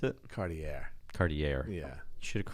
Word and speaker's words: Cartier: no it's Cartier yeah is that how you pronounce it Cartier Cartier yeah you should have correct watch your